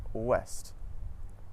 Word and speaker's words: ouest: OU at the start of the syllable makes a W sound, just like in the words woman and west. Some French examples of this are oui and ouest.